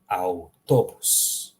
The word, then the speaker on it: autobus: Notice how I'm pronouncing in Croatian. I'm reading every single letter. Okay? There are no special examples, like I said, in French, for example, where you don't read a whole bunch of letters.